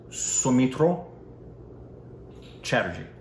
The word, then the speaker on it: Soumitra Chatterjee: that I said that, Soumitra Chatterjee. Yeah. I know the Chatterjees for sure, but some would pronounce it Soumitra, but in Bengal it would be Soumitra.